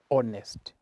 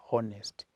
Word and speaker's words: honest: to read this word you read this word as honest okay not honest so letter h is silent hot you say honest